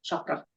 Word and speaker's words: chakra: You know how you say the throat chakra?